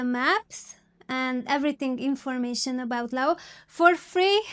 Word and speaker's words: Laos: And let's start with my first point is the basic informations about Laos or Laos. It depends how you want to say it. I say it like Laos.